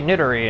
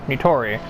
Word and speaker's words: Nitori: name and even still i sometimes say nittari instead of nitori and everyone else that